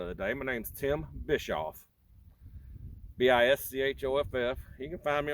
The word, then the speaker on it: Bischoff: day my name's tim bischoff b-i-s-c-h-o-f-f you can find me on facebook and friend me on there too the c is silent when you pronounce it so it's just bishop bischoff don't know why they